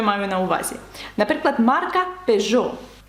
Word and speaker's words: Peugeot: на увазі наприклад марка Peugeot ви бачите після ж стоїть літера и яка не вимовляється вона там стоїть тільки